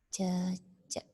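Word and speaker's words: cecek: yang pertama itu ada cecak nah ini bacanya jejak ya cecak ini berasal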